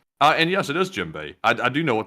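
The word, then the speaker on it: djembe: those footsteps as well is said FYI it's pronounced jimbe but spelled jimbe uh and yes it is jimbe I I do know what that is we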